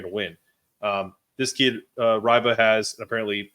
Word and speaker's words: Reibe: This kid, Reibe, has, apparently it's pronounced Reibe.